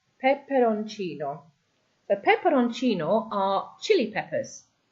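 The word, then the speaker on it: peperoncino: Then we have pepperonino. Pepperonino. The pepperonino are chili peppers. Okay, you can see the I there is your stress.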